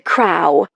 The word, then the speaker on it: Crow: Call me Crow," he insists, pronouncing it like it rhymes with wow.